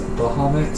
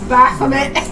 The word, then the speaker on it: Baphomet: Excuse me, Asmongold says Bahamut, so you need to Bahamut? start. No, it says Baphomet.